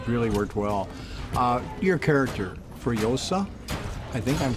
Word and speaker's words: Furiosa: Your character, Furiosa, I think I'm pronouncing it correctly. Yeah, Furiosa.